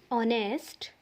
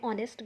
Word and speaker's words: honest: Like are, honorable, honest, honor. You can see these four in these four words h is silent and vowel sound is coming.